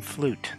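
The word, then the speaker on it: fluyt: next leg called the Bolivian mystery the Phantom flute that's how you pronounce that that is a type of ship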